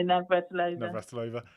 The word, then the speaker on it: Navratilova: I guess you had Annie Lennox on the screen, and Martina, how do you pronounce her surname again? Yeah, Navratilova.